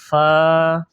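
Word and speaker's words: ف: ভাগ হইতে গইন, এরপরে ফা, ফা, ফা, প্রথমে বাতাস বাইর হবে, এরপরে উচ্চারণ হবে ফা, ফা বলার সময় বাতাস বাইর হবে।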